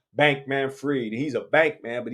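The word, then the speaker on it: Bankman-Fried: bankman free now freed Friedman Friedman is it looked like fry but if you ask him he's going to say his name is Sam Bank Manfred he's a bank man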